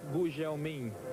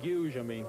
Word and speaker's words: Gugelmin: My name in Portuguese should be pronounced Gugelmin, but in England they say Gugelmin, which is easy for them.